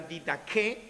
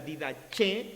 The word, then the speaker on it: Didaché: Uno de ellos es bien conocido como la Didaché o la Didaché o la Didaché, ¿no?